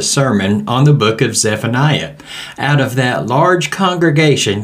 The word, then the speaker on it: Zephaniah: a study in the minor prophet of Zephaniah or zephania as the name is actually pronounced the name comes from two words zephon